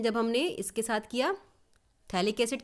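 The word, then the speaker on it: phthalic acid: रहा है तो थैली थैलिक्स इड के साथ थैला माइड मिलेगा य इसका जो स्पैलिंग है वो p से स्टार्ट हो रही है पर पी इज साइलेंट हियर तो थैलिक्स इड के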